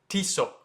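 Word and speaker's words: Tissot: starting out is tiso it's not too tat it's tiso so when you say t it's like t-shirt almost T and then so is shortened it's not so it's so TSO so that's how they do it in French um pretty easy honestly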